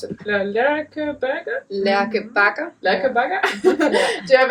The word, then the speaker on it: Lærke Bagger: Do you have a part, how do you pronounce it? Lærke Bagger? Lærke Bagger.